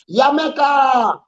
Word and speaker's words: Jamaica: It's like a thing, and they know you're Jamaican, and they don't pronounce the J. Yamaica.